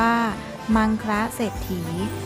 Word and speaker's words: มังคละเศรษฐี: ทอ ฐาน สระ อี ออก เสียง ว่า มัง คะ เศรษฐี ซึ่ง มา จาก คำ